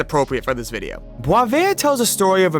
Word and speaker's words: Boisvert: recently found a channel named _Boisvert, or pronounced correctly Boisvert, and I'll admit I'm a little late to the game.